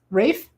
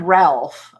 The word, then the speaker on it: Ralph: Rafe.